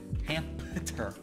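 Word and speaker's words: Hampter: And I'm not saying that wrong. It's spelled H-A-M-P-T-E-R. Hamter.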